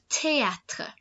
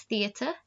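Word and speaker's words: théâtre: so you've got le teatre so this isn't pronounced theater try it galway so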